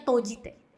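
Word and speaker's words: 閉じて: Ini juga kanji simeru. Tapi dibacanya tojite.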